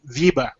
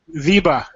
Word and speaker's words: Wiebe: I'm going to say it in German. Wiebe. Weber. Wiebe. W-I-E-B-E.